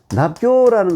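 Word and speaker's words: 納交: 여기 발음이 잘못됐네요. 내락 읽지 않고 납이라고 읽어요. 납. 예. 납이라는 것은 뭐냐면 이 글자 같은 거예요. 예. 납교라는 것이 뭐냐면 친구가 된다, 벗이 된다 이런 뜻이에요.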